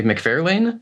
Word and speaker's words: McFarlane: tangent, but that was poignant in that Todd McFarlane, everyone is busting my chops because I say McFarlane, and they're like, who? McFarlane, who cares? That's how he pronounces it. Does he say McFarlane or McFarlane?